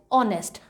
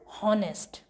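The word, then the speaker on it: honest: ऑनेस्ट, spelling तो एच से start होती है, बट we pronounce it ऑनेस्ट rather than हॉनेस्ट। हॉनेस्ट pronunciation नहीं होता, ऑनेस्ट होता है।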